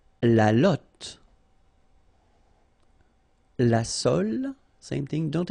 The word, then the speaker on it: lotte: And then la lotte, final E, not pronounced, lotte, t, lotte, okay, la lotte, all right?